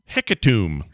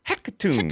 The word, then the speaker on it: Hecatomb: Hecatomb. You need to say it like that. You have to go high up there. Hecatomb.